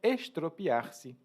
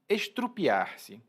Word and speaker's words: estropiar-se: E eu estou falando isso porque vou ligar já com a próxima palavra, que é estropiar-se. Estropiar-se. Muitas pessoas pronunciam, inclusive, estrupiar-se.